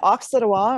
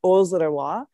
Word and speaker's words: Auxerrois: it is vitus vinifera originally from the alsace region which is on the border with france and germany so hence the different pronunciations generally when they grow